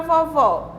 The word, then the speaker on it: vovó: vovô e na palavra vovó gente qual é qual das palavras tem um o né a letra oh vagal ó né aberta de som com som aberto a palavra vovó porque